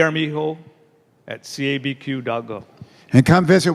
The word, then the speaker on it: Armijo: Armijo. So it's 2 A's. A-A-R-M-I-J-O. The J is pronounced like an H.